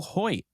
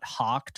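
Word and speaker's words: Hoecht: little bit of a fan favorite uh Michael Hoyt it took me about a year to figure out that's actually how you say his name and not hawked or hoiked or whatever um erect yeah but uh yeah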